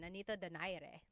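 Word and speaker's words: Nonito Donaire: So our first poll here is going to be Manny Pacquiao versus Nonito Daire or is in in the Tagalog uh pronunciation Nanito Dere.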